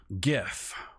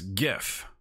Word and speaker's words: gif: that's how it's pronounced gif it's not the step brother to the peanut butter it's gif gif that's how we're gonna